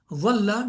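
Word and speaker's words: ظل: It differentiates similar looking words because once you learn the makharij, you know dalla means he got lost. Zalla means he slipped. Dhalla means he stayed in certain position. And dhalla, a certain position or status or whatever, dhalla is to, be humiliated.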